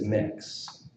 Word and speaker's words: Mx: our own representation is mix is how it is chosen to be pronounced if you just scroll down I'm kind of in the middle there here we go regarding pronunciation so spelled out so you can see the ter term mix MX using U phonetics so moving forward the